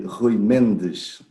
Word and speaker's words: Rui Mendes: The right pronunciation would be Rui Mendes.